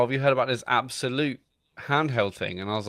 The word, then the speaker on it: Abxylute: was like, "Oh, have you heard about this Absolute handheld thing?" And I was like, "What?" And it's spelled ABXYLUTE, and it's 170 quid.